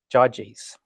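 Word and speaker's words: Gyges: the ring I believe there're soft uh soft G so the the Ring of judies so I'm just going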